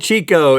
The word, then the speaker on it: Tjikko: Old Chico is a small spruce tree that lives in Dalarna, Sweden. That's how they say it, and bears a shocking resemblance to a toilet bowl brush.